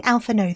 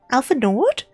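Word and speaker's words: Alphinaud: That's not the pronunciation, is it? I've been saying Alfao this entire time. Alpha Nord.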